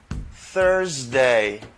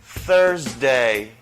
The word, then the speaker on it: Thursday: Eh bien, pointe langue entre deux dents devant yo et pour permettre les passer entre langue et deux dents devant yo.